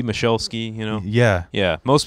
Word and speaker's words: Michalski: That's the Polish pronunciation. Right. Yeah, Michalski is how my family botched it a long time ago. Is that how you tell people? Yeah, like Michelle went to ski, Michalski, you know?